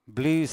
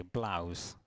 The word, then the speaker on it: blouse: No, blues è quando uno suona the blues. Okay. Lo so che in italiano si dice blusa. It's Ida. Okay, blouse. Okay, with an A, blouse.